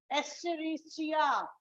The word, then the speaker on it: Escherichia: Because some students don't know how to pronounce this E, full form, the genus of the organism, Escherichia. So if you don't know how to pronounce it, the writing part will go off.